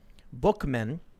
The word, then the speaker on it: Bookman: consumer by the way tim it's pronounced bookmen oh okay i winced